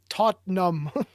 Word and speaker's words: Tottenham: he said that part you just don't pronounce the second tease tot num totem oh my gosh